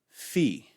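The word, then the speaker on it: phi: salon or you salon either way it's fine fee fee again eyes make a sound so you pronounce this letter you the name of it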